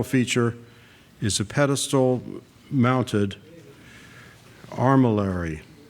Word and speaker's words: armillary: The park's central feature is a pedestal mounted armillary or if you want the litvach pronunciation arm millery an astronomical device that is also used to tell the time.